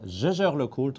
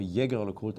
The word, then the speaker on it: Jaeger-LeCoultre: He is a product and heritage director at Jaeger-LeCoultre, or Jaeger-LeCoultre, as you want to pronounce it. I leave it open. Yeah, both is possible.